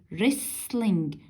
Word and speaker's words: wrestling: The second is wrestling. Be careful, we have 2 silent letters, W and T are silent.